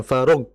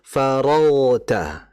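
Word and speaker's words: فرغت: Nah bukan bukan far yang betul faragta dialirkan.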